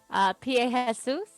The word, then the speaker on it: Pie Jesu: Pie Jesus. It's a Latin song. I know that song. I didn't realise that's how you pronounced it, but I do know the song.